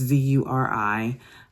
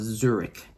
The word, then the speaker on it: Zuri: For those of you in America, the best way to pronounce it is like the state of Missouri. That's what most people associate it with. If you are not in America, most people associate it with the city of Zurich, is how they pronounce it.